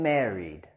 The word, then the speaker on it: married: I'm married. Estoy o soy casado. I'm married. La terminación de ed en married queremos pronunciar con el sonido d.